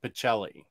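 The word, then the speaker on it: Pichelli: whitehead colton whitehead yeah the cha is a k sound in italian but i don't know how sarah pronounces her name specifically uh on uh omnidog's vault with my interview with her she said pacelli oh when did you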